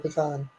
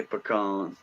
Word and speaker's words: pecan: I thought I heard you say pecan instead of pecan or there's what, like 4 different ways to say pecan? Yeah. You said it right. That's how we say it down here in Louisiana, pecans.